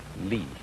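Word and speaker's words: 理: wood or the fiber in muscle and it's pronounced lean this is a character then meaning really the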